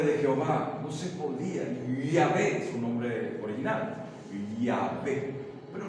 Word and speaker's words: Yahvé: Imposible era de pronunciar el nombre de Jehová, no se podía. Yahvé, su nombre original, Yahvé, pero no se puede.